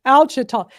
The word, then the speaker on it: Ouachita: Oh, and this is how you pronounce it, Ouachita. That sounds Cajun. Ouachita. I knew you could tell us how to pronounce it. Ouachita.